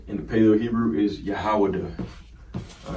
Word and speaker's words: Yahawadah: All right, in the Paleo Hebrew is Yahawadah. All right, Yahawadah, and you see here, if you go use the alphabet, okay, as you always do.